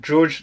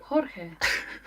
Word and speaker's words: Jorge: So we've got George Negron. I think it's Jorge Negron. Is that how you pronounce it? Jorge. Not George.